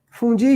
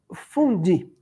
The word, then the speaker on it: fondue: E se pronuncia fondue. Fondue. Tem até um sotaque francês para falar aí, né?